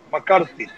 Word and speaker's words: McCarthy: Y ahora la pronunciación, Dani, vaya aprendiendo, la T y la H, McCarthy.